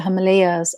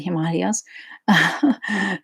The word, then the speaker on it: Himalayas: could be, in the Himalayas, or you could be, or as some people pronounce it, the Himalayas.